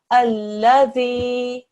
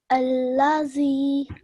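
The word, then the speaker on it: الذي: Okay, so you naturally went into a Z sound, a Z sound, which is very common for Urdu speakers. But we are doing Arabic, so try and pick up on that pronunciation, okay?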